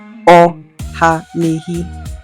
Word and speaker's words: Ohanehi: Ohanehi. That's 4 syllables.